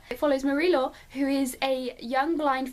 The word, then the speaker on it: Marie-Laure: It follows Marie-Laure, oh that was the most English pronunciation ever. It follows Marie-Laure, who is a young